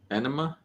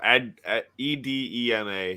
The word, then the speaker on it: edema: Enema? Not enema. No, edema.